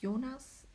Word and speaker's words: Jonas: is probably pronounced well it is pronounced very differently in German and that's Eunice my husband can't say it right so I feel like it wouldn't be fair to name a child a name that did that can't where the dad like pronounces it very different yeah in German it's Eunice and my husband keeps saying Jonas and then he said